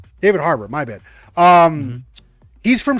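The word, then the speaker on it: David Harbour: Uh David hat her hater hater, is that how you pronounce that for always? Harbor. Never heard of him. David Harbor.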